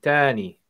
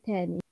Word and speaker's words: ثاني: ما بترجعش تاني. ترجعش. ما ترجعش تاني. هي تنطق ترجعش يعني... تاني يعني ثاني، لكن هم لا ينطقون حرف الثاء أبدا.